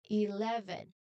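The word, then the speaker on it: eleven: So it is very important to use the strong loud V sound in the middle. Remember the V sound is the vibrating sound. You feel your bottom lip vibrate strongly.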